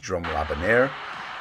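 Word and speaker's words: Jérôme Le Banner: here is with uh Jerome lebanner I've also heard pronounced drum Laban uh they had five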